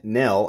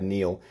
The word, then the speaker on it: Nell: knife by maker Chad Nell I've been I think pronouncing him pronouncing his name Chad Neil this is the mb1